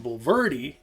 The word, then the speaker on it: Bulverde: Not far from the park, there's the tiny town of Bulverde. And Bulverde, yeah, that's the right pronunciation.